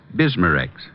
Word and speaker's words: Bismarex: Bismarex.